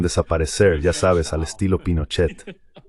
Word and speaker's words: Pinochet: ya sabes, al estilo Pinochet. ¿Cómo se dice eso en Brasil? ¿Dicen Pinochet o Pinochet? Pinochet. ¿Pinochet con una A? Sí. Hay gente que me ha dicho que es Pinochet. Like an A?